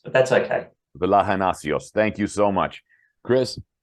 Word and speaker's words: Vlahonasios: It's Vlahonasios, but that's okay. Vlahonasios.